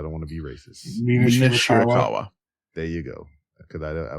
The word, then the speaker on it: Mina Shirakawa: Mina Shirakawa.